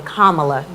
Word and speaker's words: Kamala: to say it properly kamala because my dc accent i want to call it kamala girl but kamala and with stacey abrams